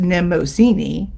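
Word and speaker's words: Mnemosyne: visit to femme headquarters nemasini pronounced nemozini glanced about and saw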